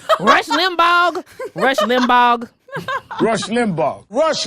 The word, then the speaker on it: Limbaugh: He pronounces the G at the end of Rush Limbaugh's name every time he says it.